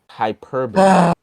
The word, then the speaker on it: hyperbole: Hyperbole.